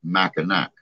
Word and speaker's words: Mackinac: It's spelled Mackinac, but it's actually pronounced Mackinac or Mackinac.